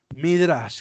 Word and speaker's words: Midrash: Al final pongan SCH, Midrash, con acento en la A.